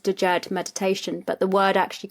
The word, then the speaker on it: Djed: Yeah, Djed. You've got a very sophisticated French accent with it. It's just Djed.